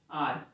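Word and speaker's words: hour: क्योंकि एच यहाँ पे साइलेंट है, और जो साउंड आ रहा है वो आ का आ रहा है, इसलिए यहाँ पे एन लगाएंगे।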